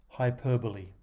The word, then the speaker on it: hyperbole: without wishing to exaggerate hyperbole suffers the same fate as parameter there is a tendency to take the prefix hyper as a unit before starting the new one and the bole part looks like a single syllable in fact the stress is on the second syllable of this four syllable word hyperbole a clock starts